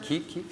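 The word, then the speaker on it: Kiip: Keep. Yeah, that happens all the time, right? Now you know how to pronounce it. It's not Kip, as long as you got the puns.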